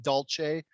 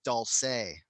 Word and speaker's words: Dulce: okay it's dolce i was wrong it's not dolce or dolce it's dulce yeah that's how you pronounce it but i didn't know enough to